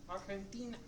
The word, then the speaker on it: Argentina: They don't pronounce the G. It's pronounced more like an H.